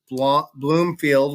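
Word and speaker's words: Blomfield: also a guy Andrew Bloomfield which is spelled like Blum b-l-o-m but it's pronounced Bloom um he just became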